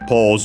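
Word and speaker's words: ポーズ: We have pause, of course. Pause. Uh, accented just like in English.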